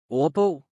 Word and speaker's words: ordbog: Another situation where the D sound is silent is when it is a part of a combined word like Ordbog.